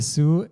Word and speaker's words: Zoo: in we say so if we have double O it's quite rare in German but we just keep pronouncing it as o we don't change it to O like you would in English so it is there